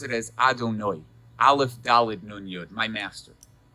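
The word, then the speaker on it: אֲדֹנָי: hay and the hay it's not pronounced the way that it's spelled we pronounce it as adonoi alef dalid nunyud my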